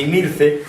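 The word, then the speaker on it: Himilce: Posiblemente es de ascendencia púnica, de ascendencia cartaginesa, porque si ven el nombre de Imirce, la H latina es una H latina que desaparece, que no se pronuncia.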